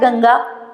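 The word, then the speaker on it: गङ्गा: हैं, 4 नंबर पे देखो मैंने लिखा है गंगा, आप भी लिखोगे गंगा, ठीक है, लेकिन ग्रामर के हिसाब से सही नहीं होगा। यहाँ देखो मैंने भी लिखा है गंगा। अब इस गंगा को देखकर आपको बीच में लगेगा कि ड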